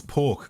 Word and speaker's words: Poke: It's Poke, as in like Pokemon, like that's how it's spelled, so maybe it's Pokey.